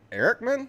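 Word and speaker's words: Ehrlichman: uh former nixon domestic policy chief john uh erickman that's how you pronounce it this is back in the 60s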